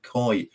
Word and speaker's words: Coy: the website of Isaac Coy, which is Isaac like you'd expect to spell it, and then Coy like a koi carp.